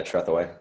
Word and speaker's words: Tretheway: How do I pronounce it? Tretheway, is it? Sup? Yeah, Tretheway.